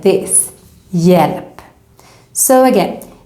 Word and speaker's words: hjälp: pronounce it like this, hjälp. So again, even if we write the H, we don't pronounce it.